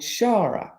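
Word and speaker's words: Xagħra: just up the road called Shara it's spelled shagra which is x a g h r a and um no funny comments please keep a straight face and anyway in Shara they enact the um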